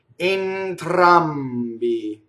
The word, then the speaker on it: entrambi: Notice that the E is closed, right? Entrambi. Notice that we have two phonated consonants, the N and the M. Entrambi. And it gives the word sort of a bouncy staccato feeling, even though the vowels are legatissimo, right? Entrambi, right? So when you say that word, it has to bounce like that.